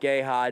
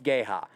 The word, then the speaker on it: Geha: time i go rudy it's not gay hot it's g-e-h-a and he says i'm pretty sure it's gay ha that time i called